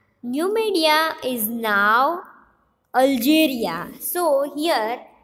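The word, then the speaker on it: Numidia: going to learn next slide and it's a new media new media is now algeria so here new media is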